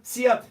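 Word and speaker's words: szia: Sia, sia.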